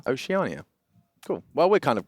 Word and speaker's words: Oceania: Oceania. Oceania.